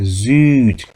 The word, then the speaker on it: Süd: 우 음라우트는 우라고 입을 삐죽이 내민 상태에서 입 모양 그대로 두고 이를 발음해야 되기 때문에 위가 아니고 으라고 하지. 입 모양을 입으로 삐죽 내면 그대로 있어야 됩니다. 위가 아니에요. 우리말로 위라는 발음은 우에서 입이 좌우로 벌어지죠.